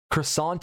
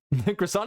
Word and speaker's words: croissant: Croissant is the number one example. You have to pronounce it kind of up.